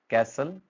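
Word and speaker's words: castle: Busy, receipt, island, डेट, कैसल, listen, then next is develop, next is country. यहाँ क्या देखा हमने कि साइलेंट लेटर्स कौन कौन से आ रहे हैं, ऑफन, लिसन, कैसल में आ रहा है आपका टी साइलेंट आ रहा है।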